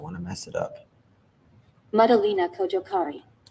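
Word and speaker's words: Madalina Cojocari: How do you pronounce her last name? I don't want to mess it up. Madalena Kojokari. Madalena Kojokari.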